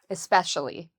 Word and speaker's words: especially: So the second syllable has the stress. I especially like um scary movies. I especially like um learning about new technology. So those are some examples. So again, especially.